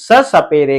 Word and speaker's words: स: अब इस व्यंजन वर्ण का नाम जब स है तो आप जो है सिर्फ और सिर्फ स से ही पुकारेंगे। इस व्यंजन वर्ण को या स कह के ही इसका उच्चारण करेंगे।